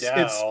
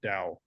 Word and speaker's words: Tao: I would say It's Dow. It's the spelled same. it's It's spelled spelled differently, Tao, but pronounced but the same. yeah, it's Or spelled Tao, but said Dao.